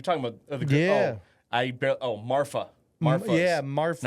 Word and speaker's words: Marfa: Marfa. Marfa. Yeah, Marfa. Not Martha. It's like Martha, but if you're saying you have a lisp.